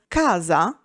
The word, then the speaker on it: casa: For example, in Italian, the phonology dictates that the letter C is pronounced differently depending on the following vowel. Thus, casa, house, is pronounced with hard C, while ciao, hello, goodbye, is pronounced with a soft C.